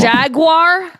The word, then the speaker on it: Jaguar: jaguar there say yeah there's three ways that people say it like people that want to sound fancy in British go Jagua like jagu Dracula Jaguar Jaguar yes and then there are people who say jaguar which I believe is the way to